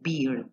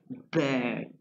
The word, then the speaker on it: bird: Ojo que no se dice beard. Se dice bird.